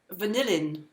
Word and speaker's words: vanillin: letter okay thank you and vanillin not vanilla vanilla in whatever that might